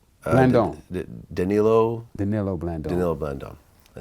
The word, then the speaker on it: Danilo Blandon: So when you start dealing with uh Blandon, how do you pronounce the name? Denilo. Danilo Bllandon. Denilo Bllandon.